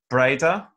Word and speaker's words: Breda: she's from Holland are you from is it pronounced Breda the place where you went to school yeah